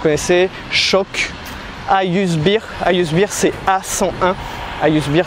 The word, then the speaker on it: A101: Ayusbir, c'est la prononciation en turc.